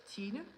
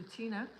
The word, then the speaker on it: Tina: Tina uh in yeah in Danish Tina and that's a little bit difficult to pronounce in English so I also respond to Tina yeah if it's in English but in Danish I prefer not to yeah that's true that's